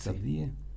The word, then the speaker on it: Safdie: Safdie. ¿Así se pronuncia? Sí. Safdie.